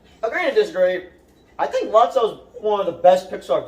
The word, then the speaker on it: Lotso: Did I pronounce his name right? Logso. It's Lotso.